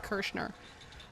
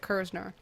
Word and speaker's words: Kursner: They call me Kersner instead of Kursner.